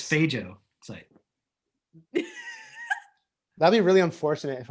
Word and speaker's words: phagocyte: It's I'm just kidding around, but seriously, there's a thing called phagocyte, and what it is, I think it's phago site.